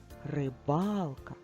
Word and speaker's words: рибалка: паука скільки складів три А на який звук падає наголос рибалка а звук А в якому складі наголос в першому другому чи третьому в другому А тепер поділимо на